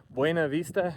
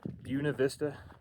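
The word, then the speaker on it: Buena Vista: All these Coloradoans here are illiterate or something. Celida is Salida. Buenav Vista is Buuna Vista.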